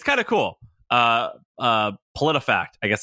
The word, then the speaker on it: PolitiFact: No, Politi, POLITI fact. PolitiFact. PolitiFact.